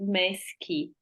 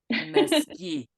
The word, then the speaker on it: Mesqui: understand the confus and it would be right to pronounce it mesy mesy mesy all these extra letters are really not necessary well they want to